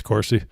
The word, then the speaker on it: Corsi: i am i pronouncing it wrong like I pronounce everybody's names wrong on this show it's Corsi okay it really doesn't matter cuz he's going